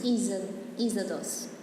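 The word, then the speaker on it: Είσοδος: How do you pronounce entrance in Greek? You're the one taking Greek lessons. Isodos.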